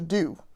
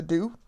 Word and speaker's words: Doux: is I love the do. The do is spelled D O U X.